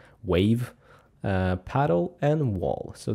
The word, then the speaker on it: WAV: wav machine.png also I don't know if you say it wav but that's how I pronounce it wave uh paddle and wall